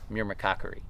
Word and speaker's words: myrmecochory: yeah so it is I think it's me as in John Meir and then Cocker as in Woodcock are we doing another